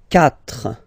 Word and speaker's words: quatre: Quatre. Quatre. Okay, so remember that even if you get this u vowel here, basically you don't pronounce it, because that's the rule in French.